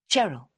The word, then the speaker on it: Cheryl: They'd introduce themselves rapidly, and the only name that stuck in Simey's memory was Cheryl, pronounced with the hard English ch rather than the American Cheryl, which Sime thought much nicer.